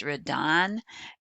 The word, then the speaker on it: Redon: His name is pronounced Redon, and I do have the pronunciation in there